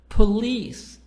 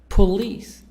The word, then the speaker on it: police: second syllable garage raj police police po please so here's the stress on leaves on the second part listen to the stress